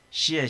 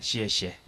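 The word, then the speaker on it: 谢谢: 고맙습니다 뭐예요 두 글자 씨의 시에 씨의 라고 우리는 그런데 원래 발음이 씨의 cg 에 씨에 씨에 그 다음에 미안합니다 내부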